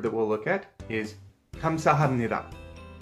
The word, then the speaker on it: 감사합니다: The next word that we'll look at is 감사합니다. The first block in 감사합니다 is pronounced 감, and the second block is pronounced 사.